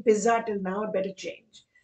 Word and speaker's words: pizza: Is it pizza or is it pizza? Now, sad to say, it's pizza. So whoever's been saying pizza till now, better change.